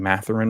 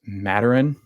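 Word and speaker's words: Mathurin: and that we're saying Matarin wrong and Dagnel. It's matern because the H is silent in the French language.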